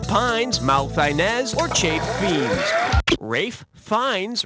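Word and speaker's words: Ralph Fiennes: malz or cha Bei Rafe fines rhymes with safe Pines yeah he was great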